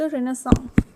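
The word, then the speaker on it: Renaissance: Beginning होती है रेनासा की। Beginning of the beginning of द रेनासा। रेनसा ठीक है। आई am writing this spelling the pronunciation is रेनसा।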